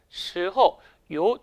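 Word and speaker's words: 时候: 언제라는 말로 이루어졌습니다 근데요 주의하실 것은 성조와 발음이 약간 어려워요 이성 경성 이성 경성의 성조를 취하는데요 같이 한번 연습해 볼까요 스호 스호 스호 요렇게 언제라는 말 사용할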